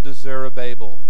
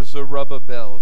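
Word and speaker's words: Zerubbabel: of the Lord un zerubabel or zerubabel some have pronounced it saying not by might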